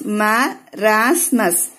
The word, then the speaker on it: marasmus: How to pronounce this? Marasmus.